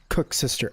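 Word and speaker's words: koeksister: pronounce that oh oh it's pronounced cook's sister oh so that's what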